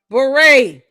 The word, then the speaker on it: beret: BERET.